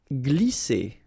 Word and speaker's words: glisser: Glisser. Remember, double S here, vowel, vowel, so it's really strong. S, okay? And then when you combine this G and L here, you get the sound gl, gl. Glisser.